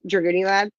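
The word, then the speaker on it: Dragooniellad: And it's funny because it's spelled like Goonies. D R A G O O N I E L L A D. Dragun Lad.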